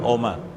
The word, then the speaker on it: Oma: Oma. Oma. Doma masih ingat ya orang bacanya doma sebenarnya tulisannya oma.